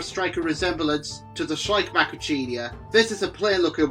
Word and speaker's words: Macrauchenia: Safari's megafauna models, but Macrauchenia, or Macrauchenia, as some folks pronounce it, was completely brand new